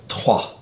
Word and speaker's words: Troyes: And there, how do you pronounce it? Trois. Trois? Like the number 1, 2, 3. Trois? Yeah. Oh, really? Even though it's a Y-E-S.